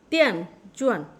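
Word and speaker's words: 电钻: দেন চুয়ান, তেন চুয়ান। ডি দ এবং ত এর মাঝামাঝি উচ্চারণ হবে তেন চুয়ান, তেন চুয়ান, তেন চুয়ান।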